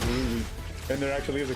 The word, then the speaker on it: RWBY: Like that's how I was gonna pronounce RWBY like Ruby, and there actually is a character named Ruby in it.